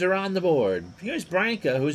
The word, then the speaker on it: Branca: So Branca, whose name rhymes with Sanka, 37 pitches for his first 9.